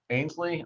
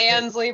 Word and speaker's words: Ansley: Ainsley? I'm the worst pronunciator. I got it right? Recycled. It's Ansley, but you're close.